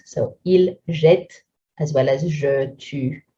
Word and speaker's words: jette: When it comes to a silent E conjugation, the pronunciation is quite hard to say. Il jette, jette.